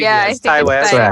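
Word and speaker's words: Ti West: Did I pronounce the first name correctly? Yeah, yes, I think Ty West.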